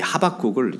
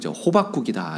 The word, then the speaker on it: 하박국: 하박국이라고 하는 사람입니다 하박국입니다 예전에 어떤 부흥사 목사님이여 말을 빨리 하면서 발음이 뭉개져서이 하박국을 호박국이다 이렇게 발음한 기억이 나는데요 호박국 아니고 호박국입니다 히브리